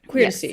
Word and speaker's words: Queertesy: hear about the common queer to see letters. Did I say that? Did I pronounce it the way that you would like me to pronounce it? Queer to see? Yeah. like courtesy, but queertesy.